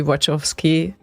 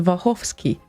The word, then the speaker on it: Wachowski: sisters by the way so the watch of ski's original name is not supposed to be wachowski no matter what you think it's a vachovsky that's the original one sure so they accepted